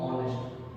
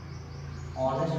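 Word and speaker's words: honest: जैसे ऑनेस्ट मैन, यहाँ जब हम इसको प्रोनाउंसिएट करते हैं तो एच साइलेंट होता है, इसको पढ़ते हैं हम लोग ऑनेस्ट, ऑनेस्ट पढ़ा जाता है इसको।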